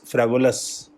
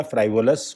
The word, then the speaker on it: frivolous: First is फ्रेवुलस, फ्रेवुलस या फ्राइवुलस कुछ भी प्रोनाउंसिएट हो सकता है, तो आपको वर्ड्स को समझना है।